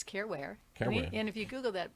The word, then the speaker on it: Caren Ware: So it rhymes. Careware.